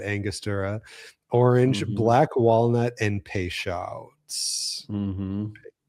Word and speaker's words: Peychaud's: Orange, black walnut, and Peychaud's. Peychaud's? How do you pronounce that?